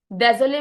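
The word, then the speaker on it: désolée: sorry य सुई डजोले इसकी साउंड ज आएगी स नहीं आएगी ज बिकॉज़ जब एस के आगे बोल हो एस के पीछे भी वोल हो तो एस की साउंड क्या बन जाती है ज सो इट बिकम्स यस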